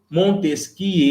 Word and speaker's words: Montesquieu: um cara né chamado montesquie e na francês na verdade se escreve montesquieu mas se lê não disse que é